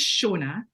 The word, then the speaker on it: Seonad: going to my LinkedIn my name is shaa but it is kind of gelic Scottish gelic spelling so I really do